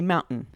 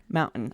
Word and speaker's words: mountain: So a good example is mountain. In my regional dialect growing up, I say mountain. Mountain. I don't say the Yes. T. That's a glottal Yes. stop.